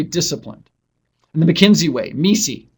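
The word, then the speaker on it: MECE: thorough they're very disciplined in the McKinsey way me see it's pronounced me see mutually excute exclusive collectively exhaustive it's a way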